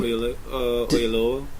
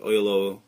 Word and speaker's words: Oyelowo: you'll wonder why David Oyelowo, how do you pronounce his last name? Oyelowo, I think.